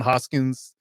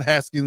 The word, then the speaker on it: Haskins: Again, I think you know, same vein with Hassan Hassan Hoskins. Hassan Haskins, let me be pronounced the man's name right.